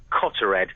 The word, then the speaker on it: Cottered: It was 4:15 this morning over the village of, I think it's pronounced Cottered, which is near Buntingford in Hertfordshire.